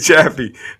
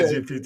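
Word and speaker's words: ChatGPT: Hey, he said Chaffee. Hey, I Yeah, like what he was calling. He called it Chaffee. He talking about yeah, Chat GPT.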